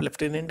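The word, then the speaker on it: lieutenant: Spelling में बहुत सी common common चीज़ें होती हैं, जैसे आप ल्यूटेनेंट गवर्नर होता है, ठीक है, आप लेफ्टिनेंट गवर्नर बोलते हैं बट ल्यूटेनेंट होता है, ठीक है, कर्नल का स्पेलिंग देख लेना।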